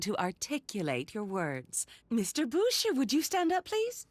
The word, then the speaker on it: Bouchere: It's pronounced Boucher, not Butcher.